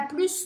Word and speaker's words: plus: Pronuncio este S, vou marcá-lo de azul, tá? Quando eu falo com som de S. Elle a plus de livres que moi.